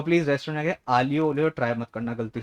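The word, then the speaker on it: aglio olio: तो please restaurant आके आलियो ओलियो ट्राई मत करना गलती से भी. जो उसकी स्पेलिंग होती है एग्लियो पोग्लियो को स्पेलिंग होती है उसकी, लेकिन the pronounce it एज आलियो ओलियो.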